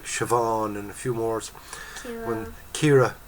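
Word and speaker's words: Ciara: Kira, C-I-A-R-A is Kira.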